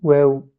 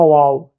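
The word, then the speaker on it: واو: Cette lettre, elle s'appelle, désolé, j'écris en phonétique, s'écrit waw, avec un W qui est pas grave, c'est pas wow, c'est waw.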